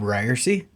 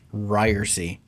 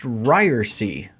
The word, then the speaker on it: Ryerse: new podcast it's pronounced ryersy it's not ryers it's not ryersy it's not reverse as you sometimes get from telemarketers it's pronounced ryersy with a long e on the end uh you might not